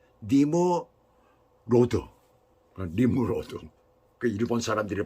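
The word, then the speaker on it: נמרוד: 그러면서 세상에 첫 용사라고 하고 있습니다 이름은 히브리어로 발음으로 니모로드 림으로도 일본 사람들이 발음하는 거 같아요 그것은 그가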